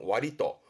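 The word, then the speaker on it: 割と: 이렇게 쓴 발음은 와리또.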